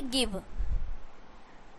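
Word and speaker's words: give: यहाँ पे देखिए क्या है कि गिव, नहीं ना हो, लेकिन फिर भी यहाँ पे क्या है कि जी के बाद आई आ रहा है।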